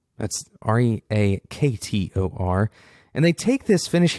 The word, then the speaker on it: Reaktor: That's Reaktor.